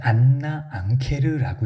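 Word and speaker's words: Anna Ancher: 자 커는 ure anch이 사람의 안나 안케르라고 이렇게 발음이 나오네요.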